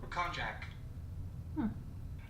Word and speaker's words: konjac: The pronunciation of this word sounds like Konjac.